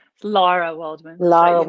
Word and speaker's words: Lara: Lara Waldman, but Lara you know, Waldman, North yes. Americans have a hard time saying Lara.